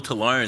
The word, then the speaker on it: Tolone: Tolone. That's how you pronounce it.